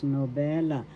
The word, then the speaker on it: nobela: Second syllable be and third syllable la nobella. Second syllable is where the accent is nobella. I'm telling you so that you could pronounce it well where the accent is in the syllables.